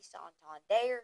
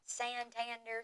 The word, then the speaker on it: Santander: next person is Anthony Sant his name is not Santander so don't even say it like that ESPN has him going